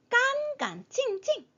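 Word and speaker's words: 干干净净: 깐깐칭칭, 깐깐칭칭. 제가 빨간색으로 표현을 했지만 처음에는 그대로 일성어를 해주지만요. 두 번째는 성조 없이 가볍게 표기가 되어져 있어요. 경성으로 성조 없이 표기가 되어져 있습니다.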